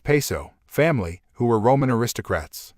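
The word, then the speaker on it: Piso: He writes, the New Testament, the Church and Christianity, were all the creation of the Calpurnius Paizo, pronounced Peso, family, who were Roman aristocrats.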